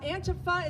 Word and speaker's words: antifa: learned about was um antifa now antipho is how they pronounce it i pronounce it on purpose antifa just because i know